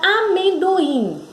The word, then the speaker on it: amendoim: Na palavra amendoim, quem é a sílaba tônica?